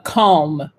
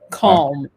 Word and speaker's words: calm: was very calm so you do not pronounce the l in english but you do in french could you please repeat that one once again uh calm you kind of pronounce